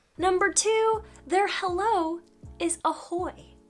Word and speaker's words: ahoj: two there hello is ahoy like it's spelt ahoj but it's pronounced ahoy so just imagine you're